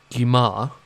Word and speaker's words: Gyimah: This would include Sam Gyimah, and I had to check, yes, that is the correct pronunciation.